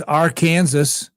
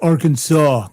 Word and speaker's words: Arkansas: Uh, somebody mentioned uh they would say Arkansas as our Kansas. I say Arkansas and that irritated somebody. Matter of fact, um, somebody called me out on it and just said, "Stop doing that." It's Arkansas.